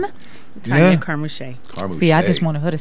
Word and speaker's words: Carmouche: Carmouche. Carmen See, I Shea. just wanted her to say it because Love it. I knew I was not going to say it right. Carmouche.